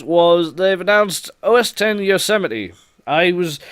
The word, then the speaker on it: Yosemite: they've announced os 10 yosemite i was i always thought it was going to be pronounced user might when i first saw it because i didn't see it right but it's actually yosemite so they're sort of